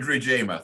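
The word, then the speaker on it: Rwigema: going to have to forgive me about the pronunciation rig reamer is it fred regima thank you i've only seen it in print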